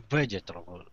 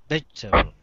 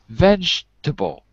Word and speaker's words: vegetable: Try again. 3 syllables, not 4. Not vegetable, that's 4. Try it with 3. Vegetable. That's it, good. Vegetable. Vegetable. Okay, 3. And it's not a ch or a sh, it's j, like John, vegetable.